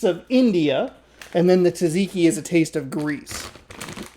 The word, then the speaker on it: tzatziki: And the last flavor is the wavy version, which is Tzatziki, which is kind of weird that I know how to pronounce that, but it is. I love you got a double Z in there. Tzatziki.